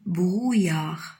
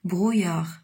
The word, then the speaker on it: brouillard: ce mot parce que on dit pas brouillard non c'est le brouillard d'accord donc en a aux us mais vous avez aussi le sang y est donc ça se prononce brouillard répète oui c'est comme